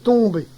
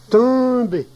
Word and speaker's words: tomber: Le verbe tomber a une prononciation difficile pour les personnes qui ne parlent pas normalement le cauchois, car ce n'est ni un, ni on, ni un, mais plutôt une nasalisation du e. Tomber, tomber.